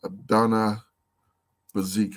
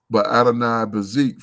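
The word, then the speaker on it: Adoni-Bezek: So let's check out this cat's name, Adonai Bazik, I believe you pronounce it. Adoni Bazik. Adoni, that's almost like Adonai.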